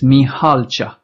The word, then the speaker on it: Mihalcea: My second and my family name is made of three syllables. It's Mihalcea. Mihalcea.